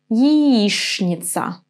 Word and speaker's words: Яичница: It's gonna be shn in this word. Яичница.